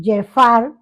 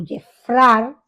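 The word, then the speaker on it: Geffrard: También podemos citar una más cercana que es la de 1865 cuando el presidente de Haití eh Jeffar o Jefrar, como también se puede pronunciar, envió un comisionado para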